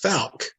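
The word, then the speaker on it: Fouke: me about your story uh how do you pronounce it folk it's falc arkansas if anybody is a love of cryptozoology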